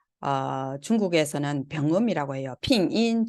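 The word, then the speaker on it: 拼音: 핑인, 중국어 발음으로는 핑인이라고 해요.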